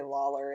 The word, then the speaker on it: Lollar: That's not how you say Lawler, is it? It's not how you spell it, but that's how you say it.